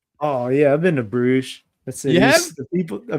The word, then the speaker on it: Brugge: And when you were in, do you say Bruges? Is that how they say it? I think that's how we say it in English, at least. I only know how the announcers, they call it Club Brugge. Maybe that might be how they wrong. say it. I have no idea.